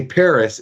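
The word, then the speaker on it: Perris: the Paris Valley Station and I say Paris it's spelled p r i s not to be confused with the Paris of the 2024 Olympic Games so in any event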